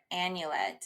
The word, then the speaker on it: annulet: I trademarked it the word itself the word annulet it's spelled a n n u l e t